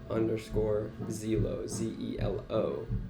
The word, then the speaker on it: Zelo: It actually is Zello, but it's like I say Zelo because it's been like Americanized by my friends who say it. Zelo. But yeah, Zello comes from when I was skating in Paris.